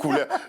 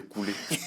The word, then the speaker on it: Couleur: Je le prononce bien? Oh, très bien. Couleur. Moi, je disais Couler. Non, Couleur mais Maloya.